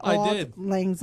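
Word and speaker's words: Auld Lang Syne: you find out what all Lang z uh yeah it's spelled by the way old is it's spelled a u l d Lang l n g and sign s y n e and and literally old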